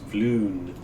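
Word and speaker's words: Floon: you like fm uma nope and it's flune it's in the dramatis personae it tells you exactly how to pronounce it um yes so i'm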